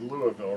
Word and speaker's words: Louisville: Notice I said Louisville, right?